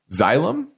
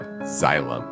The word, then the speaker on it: Xylem: XYL, this is Xylem. I think how you say it. XYLEM is how you spell it.